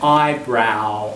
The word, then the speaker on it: eyebrow: Second line there, eyebrow, owl. Again, it's that owl sound.